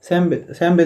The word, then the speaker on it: সামবেদ: তো উত্তর হবে সামাবেদা। যে ঋক সাম যদু অথর্ব বেদগুলো রয়েছে তার মধ্যে সামবেদ রয়েছে, শ্যামবেদ যেটা আমরা উচ্চারণ করি বাংলাতে।